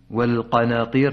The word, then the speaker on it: والقناطير: مد متصل في الاشباع والقناطير ننتبه الى النون حتى تفخم لانها قبل حرف القاف وبعد النون الف ساكنه الف دائما تتبع ما قبلها فاذا فخم النون حتما سوف تفخم الالف الساكنه التي بعدها والنعام والحرف نق الحركه